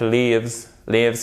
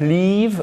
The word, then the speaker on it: lives: Et vous voyez ici, c'est un i court aussi, hein, parce que si vous dites that live in Berlin, vous prononcez le verbe to leave, qui signifie quitter. My cousin that lives. Vous allez vers l'arrière pour faire le i court.